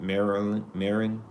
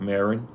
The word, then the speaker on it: Maron: Mark Maron, like Marilyn. It's like Marilyn Wayne, like the actor, but Maron, I believe, Maron, Maron.